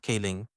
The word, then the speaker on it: Kling: so clling AI video actually in Chinese is pronounced King so Qui show it